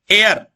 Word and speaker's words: heir: Next एयर, जिसको legal बारिश कहते हैं, उसको बोलते हैं एयर। इसका प्रोनाउंसिएशन और स्पेलिंग HEIR, एयर।